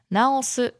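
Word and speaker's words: なおす: Now in Osaka Ben, it's first of all it's pronounced naosu. Okay. So again, going down naosu.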